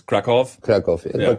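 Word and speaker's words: Kraków: Berlin - is it I pronounced it Cracow but it's Krakoff Kolya I have to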